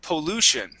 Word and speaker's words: pollution: uh um uh Bin whenever you see this type of ending okay with that uh here we go that Tio n okay that uh that uh TI is going to sound more like an sh okay and uh and we would usually either pronounce that ending like an un sound like pollution or pollution okay either one is